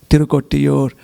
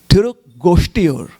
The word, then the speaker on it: Tirugosthipur: But in devotional literatures, it is also called as Tirukottiur. Actually, that is also not the real, the pronunciation is a little wrong. It is Tirugosthipur.